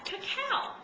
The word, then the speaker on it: cacao: to add some raw cacao now this is the raw real chocolate the actual pronunciation is Cacao it's c a CA